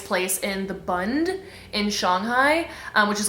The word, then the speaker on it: Shanghai: So we actually went to Shanghai, and I always feel very pretentious when I say Shanghai, but that is actually how it is pronounced.